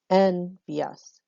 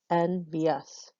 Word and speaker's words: envious: Well, why would we end a word with 9, end a line with 9 syllables? It doesn't make any sense. 10 is the appropriate number, and envious, envious. So 3 syllables here. And so it was 3 here, and it was 2 up here.